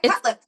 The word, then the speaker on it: Cutlip: your last name correct it's an injury to the lip yeah cut lip cut cut lip because